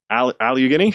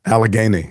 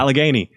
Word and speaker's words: Allegheny: Alugghini. Did I say it right? Alagany. Yeah, Alagany.